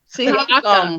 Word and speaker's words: Siakam: Takayam? I don't know. Siakam.